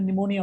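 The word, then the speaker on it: pneumonia: ए P N-you M को Android leg piece silent में निमोनिया बोलते हैं इसको P N-you M Noida and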